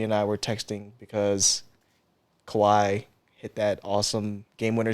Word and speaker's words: Kawhi: I were texting because Kawhi hit that awesome game winner shot. I wish I had it queued up. His name is Kawaii. Kawhi, That means cute in Japanese.